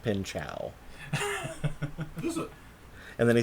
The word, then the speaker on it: Pinchot: And the first thing he said in his monologue is that it's actually pronounced Pinchow.